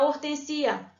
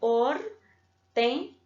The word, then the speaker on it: hortênsia: Não vai ficar hortensia. Tá vendo? Não posso falar hortensia. Ou como a palavra dependia, por exemplo, né? Não tem como eu vou colocar... A separação de sílaba vai ficar assim, hortênsia.